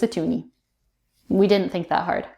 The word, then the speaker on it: toonie: So a toonie is the Canadian $2 coin, and it's called that because it has the sound 2, like the number 2 in it, and it rhymes with loony. So it's a toonie.